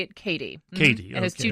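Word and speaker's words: Kattie: And do you say her first name, Kathy? No, you actually say it Katie.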